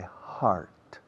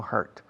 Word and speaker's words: heart: I know it by heart. Se pronuncia heart, no hurt.